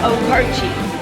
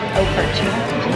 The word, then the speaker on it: Okarche: So how do you pronounce the name of the town? Okarche. Stands for Oklahoma, Arapahoe, Cheyenne. Okarche.